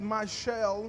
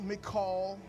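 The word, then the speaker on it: Michal: David," listen to this, "that Michelle, Mikall, Michelle, whichever way you prefer to pronounce it, the daughter of Saul,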